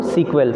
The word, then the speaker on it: SQL: ठीक है, sometimes also refer to सीक्वेल. ठीक है, SQL को कई लोग सीक्वेल भी पढ़ते हैं. ठीक है, SEQUEL. ठीक है, सीक्वेल भी कई लोग इसको प्रोनाउंस करते हैं SQL को.